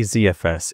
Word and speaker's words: ZFS: And yes, I say ZFS even though I'm British as I'm used to hearing Americans say it and it sounds more fluid.